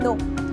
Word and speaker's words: knee: एक और एग्जाम्पल देती हूँ, अगर मैं बोलूँ नी, तो KNEE होती है नी, पर यहाँ पर भी एन से पहले के है तो ये भी साइलेंट हो जाएगा।